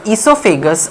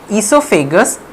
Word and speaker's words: esophagus: now coming to the esophagus or the food pipe esophagus or the food pipe o is silent hair in esophagus it